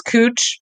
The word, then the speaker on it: Couch: that's always on there is is cooch because it's spelled like couch yeah but here's what